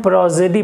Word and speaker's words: prosody: 2 vowel के बीच में जब एस आता है तो इसका प्रोनाउंसिएशन जो होता है वो सा नहीं बल्कि ज हो जाता है।